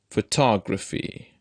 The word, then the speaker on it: photography: column diplomat photograph monotone when the noun forming suffix Y occurs distress in these words shifts to the second syllable look at this column